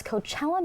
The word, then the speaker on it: Coachella: talking about next year's Coachella Music Festival because the lineup is officially out so Josh who is headlining I think you said it wrong it's Coachella Coachella yeah there we go